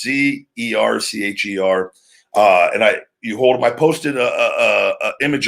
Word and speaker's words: Zercher: I always forget the pronunciation, but it's Zercher.